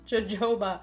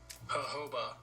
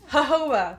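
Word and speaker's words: jojoba: this right now I'm so dumb how to pronounce Joba Joba is that how you pronounce it Joba Joba babe hoba wow hoba that's what I said I said hoba so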